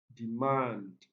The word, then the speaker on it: demand: 44 we have demand demand this one is stressed on the second syllable definite this one is